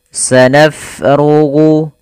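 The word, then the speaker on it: سَنَفْرُغُ: Pada lafal bacaan sanafrugu, fa-nya kita alirkan nafasnya sanaf, naf. Kesalahan yang terjadi pada lafal huruf fa, dia menjadikan hurufnya menjadi p. Sanafrugu lakum. Ini kesalahan yang sering terjadi. Bagaimana supaya menghindari kesalahan itu? Yaitu kita alirkan nafasnya sanafrugu lakum, ghu.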